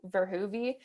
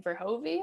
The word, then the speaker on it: Verhoeve: tomato technically the pronoun the correct pronunciation is um closer to verhuvi but i grew up with my parents always saying for hovie so that's what everyone